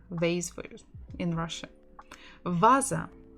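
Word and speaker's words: ваза: for you in Russia Vasa Vasa Vasa Vasa stress on the first syllable Vasa toeta Diego the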